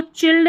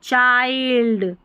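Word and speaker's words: child: अब इसको चिल्ड नहीं पढ़ना है। चाइल्ड ठीक है?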